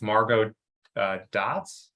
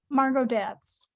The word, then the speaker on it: Margot Datz: It's Margot Dots or Dats? Margot Datz. Dats, okay.